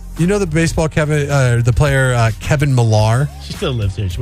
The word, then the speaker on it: Millar: But then people would say his name for when he was playing baseball would say Kevin Miller. But then I've heard him correcting people as like, no, it's Kevin Millar.